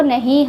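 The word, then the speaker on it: knee: इसलिए के का जो साउंड है वो नहीं हम लोग बोलेंगे। केवल एन का साउंड बोलेंगे। क्योंकि के जो है वो एन के पहले आया है। इसको पढ़ते हैं नी।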